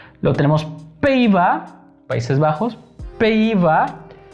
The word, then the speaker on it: Pays-Bas: Pays-Bas. Cuando vean una AY, se va a pronunciar. Una primera parte se va a pronunciar E. ¿Ok? Y luego va a haber una I.